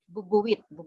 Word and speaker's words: bubuwit: Bubuwit, yeah. But it's kind of spoken quickly, so it's pronounced fast.